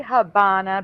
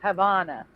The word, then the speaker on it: Havana: Dave says Havana no they say Havana because the v in Spanish sounds like B but I've never seen